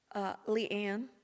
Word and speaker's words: LeAnne: How do you pronounce it in South? LeAnne.